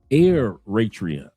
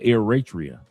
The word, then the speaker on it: Eritrea: that Nipy Hustle was Uritria. Absolutely correct. He said he's pronounced Aratria or Eratria.